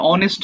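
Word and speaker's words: honest: আচ্ছা এখানে দেখো এইচ এর উচ্চারণটা হবে না এখানে অ থেকে শুরু হচ্ছে না তুমি কি উচ্চারণটা বুঝতে পারছো এটা অনেস্ট হবে এই অনেস্টের অ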